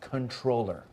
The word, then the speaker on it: comptroller: that was a misspelling comptroller is pronounced controller can I see something